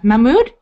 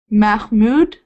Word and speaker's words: Mahmud: and 13 for us my name is mahm not mm how how do you say it mm Mahmud mahm sorry it's hard to pronounce the h uh I will start